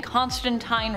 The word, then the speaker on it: Constantine: in the comments that I'm saying Constantine wrong I am saying it the way Neil Gaiman says it and he's taking the pronunciation from Alan Moore himself one of the creators of John Constantine so I'm going to say it that way but if you say teen that's cool too say it however you